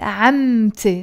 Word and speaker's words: عمتي: No, I have to pronounce the T مربوطة. لازم نلفظ التاء مربوطة. تاء تيل مربوطة ونقول عمتي my auntie from my